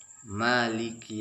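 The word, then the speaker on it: مالك: Maliki jangan maliki. Agak dijelaskan kafnya, maliki, dan jangan sampai membacakannya sampai 3 ketukan.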